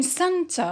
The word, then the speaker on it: center: In center or central, the primary stress is on cen.